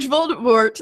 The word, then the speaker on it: Voldemort: says it wrong and Voldemort snaps him and says, the T is silent.